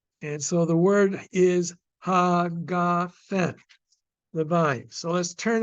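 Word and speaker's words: הגפן: Hagafen, not hagefen, but hagafen.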